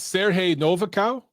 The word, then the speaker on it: Siarhei Novikau: hey um and hopefully i'm saying is it sergey novakow or am i pronouncing it wrong yeah it's uh you pronounce